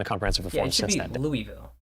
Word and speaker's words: Louisville: Louisville. That's how the it's spelled. But people go Louvo.